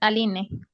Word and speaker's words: Aline: Alí o Aline. Eh, sí, es Aline.